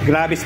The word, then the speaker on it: Gravis: Gravies po pala ang tamang pronunciation kaya ayan ha.